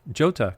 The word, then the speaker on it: jota: svj means super velocity jolta now where does jolta jota come from j-o-t-a well apparently that's how you pronounce the letter j in italian but where did that